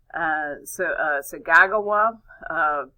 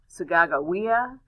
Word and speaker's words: Sacagawea: One Native American in particular is Sacagawea. I've also heard this name pronounced Sagagawa, Sagagawea, and so there's different names, but I guess I've always kind of fell back on Sacagawea.